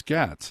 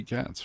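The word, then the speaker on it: Gaetz: I don't think I ever heard his name pronounced, but it's Gats. It's got to be Gats, right? Yeah.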